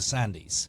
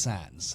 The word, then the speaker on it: Sandys: 45 minutes and then she promptly said hello Mr sandies yeah and i i c i stupidly corrected her and said it's actually pronounced Sans and uh she thought